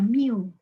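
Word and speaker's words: μ: lambang rata-rata tuh adalah Miu ya Miu MB u dibacanya Miu itu adalah Jumlah dari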